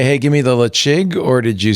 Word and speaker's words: Ledaig: name I was like there's no way that's pronounced leeg so I looked it up it's like it's pronounced leig and I'm like why okay cuz gaic is